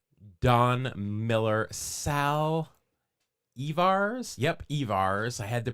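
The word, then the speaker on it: Yvars: Yep, Evars. I had the pronunciation right.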